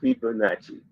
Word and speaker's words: Fibonacci: I'm sorry, it's Fibonacci. It's spelled Fibonacci.